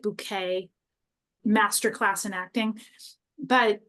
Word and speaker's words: Bucket: family so she they're their last name is bucket but she pronounces it bouquet master class in acting